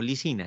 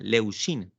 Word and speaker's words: leucina: glutámico y la leucina yo dije ina pero acá quiero tal vez me me equivoqué en la pronunciación leucina es el que empieza la síntesis proteica no licina leucina la lisina sí es